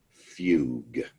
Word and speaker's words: fugue: turn the pen on the second word is pronounced fugue psychogenic fugue this is when you just lose